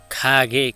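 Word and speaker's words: 가게: यसलाई किन खागे भने त किनभने ग चाहिँ शब्दको अगाडि आएमा ख नै उच्चारण गर्नुपर्छ र पछाडी आएमा ग उच्चारण गर्नुपर्छ भनेर नियममा छ। त्यसैले यसलाई चाहिँ अब गा नभनेर अब के भन्नु पर्यो त हामीले खा भन्नु पर्यो। त्यसैले यसलाई खागे।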